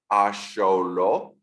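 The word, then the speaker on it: axolotl: how word it's pronounced ASO because n the the language of the Aztec you don't pronounce the TL at the end hence it's n told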